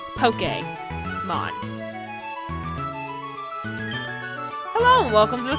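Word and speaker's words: Pokémon: above the E and Pokemon makes the e a short a so poke game on it's part of the reason why my username is poke p-o-k-a-y reviews because uh news flash that's how you pronounce it poke come on oh and welcome to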